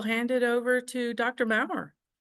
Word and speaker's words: Mowrer: So, uh, my name is Mau. Last name rhymes with flower.